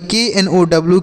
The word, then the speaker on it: know: तो देखिए के और यन अगर एक साथ लिखे रहें तो यह के साइलेंट होता है। क्या होता है साइलेंट सर? के साइलेंट होता है। इस यन को पढ़ेंगे, लेकिन यह जो के होगा इसको नहीं पढ़ा जाएगा।